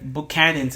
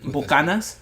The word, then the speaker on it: Buchanan's: Yeah, it's Buchanan's in English. It's actually Scottish, I think. Buchanan. Yeah. How do you say it in Spanish? Like Bucanas. Bucanas. Yeah.